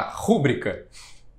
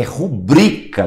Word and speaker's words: rubrica: A rúbrica, que fala. É rubrica, doutor Mozart, porque Exatamente. É uma paroxítona. Quando você lê rúbrica, você está usando como proparoxítona. E rubrica é a penúltima sílaba que é tônica.